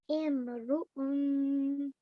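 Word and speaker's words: امرؤٌ: So that and the noon sound at the end was the nasal sound. Yes. Yeah, brilliant. So let's try that one more time. So if you could say that by yourself. Imru'un.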